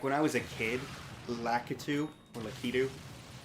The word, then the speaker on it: Lakitu: Like, when I was a kid, Lakitu, or Lakitu, for some reason my brain thought there was an R in there. Lakaru.